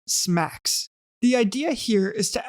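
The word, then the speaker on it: SMACSS: and modular architecture for CSS pronounced smacks the idea here is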